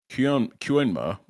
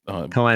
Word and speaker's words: Koenma: Kyuenma, I forget how to say her name. His name. His name. Koenma. Pinky Boy. Koenma, there we go.